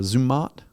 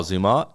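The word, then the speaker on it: Zermatt: Swiss Alps ah yeah the town of uh zumot I think is is how you say it oh zumot zumot never heard of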